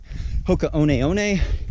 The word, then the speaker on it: Hoka One One: Big shout out to the Patreon supporters for really making this all possible, as well as title sponsor Hoka One One. That's how we pronounce it now.